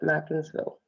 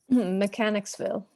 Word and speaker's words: Mechanicsville: Did I pronounce that right, Mackensville? Mechanicsville. Mechanicsville, I'm Yeah.